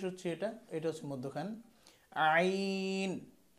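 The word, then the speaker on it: عين: এই যে হলকের মধ্যখান থেকে, এই যে জায়গাটা দেখাচ্ছি এখান থেকে শুরু হচ্ছে এটা, শেষ হচ্ছে এটা, এটা হচ্ছে মধ্যখান। আইন, আইন।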